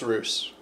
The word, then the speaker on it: Rus: It's not Russ, it's Roos. Harold said it wrong, Bjorn said it right.